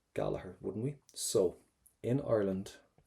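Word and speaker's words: Gallagher: not what sound what letters do we not pronounce we would never say Giger gager we would say galaher galaher wouldn't we so in Ireland we don't pronounce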